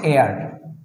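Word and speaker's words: heir: পালক নিয়েছেন এই যে এটা হচ্ছে হেয়ার এইচ ই আই আর কিন্তু এটার উচ্চারণ হচ্ছে এয়ার এয়ার এই এয়ার কিন্তু না এই এয়ার হচ্ছে আরেক এয়ার এই এয়ারের মানে হচ্ছে বাতাস আর এই যদি এইচ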